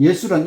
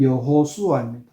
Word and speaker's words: 예수: 구원할 자이다 이런 뜻은 예수란 이름 뜻은 여호와께서 구원하신다 요런 뜻 자 예수라 하는 거는 이제 헬라의 예수 이거를 히브리어로 발음하면 여호수아 히브리어로 하면 수 헬라 발음하면 예수 이렇게 되고 영어로 발음하면 지저스 근데 이제 우리나라 말이 어